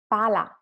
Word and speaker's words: pala: And then palla and pala. Pala, one L, palla, two L.